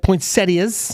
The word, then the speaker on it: poinsettias: No, you're not, because you can get breakfast, get poinsettias. Yes. Notice that proper pronunciation.